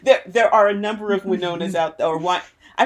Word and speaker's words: Winona: new jersey totally my impression yeah and it's pronounced winona why nona why not no no okay i'm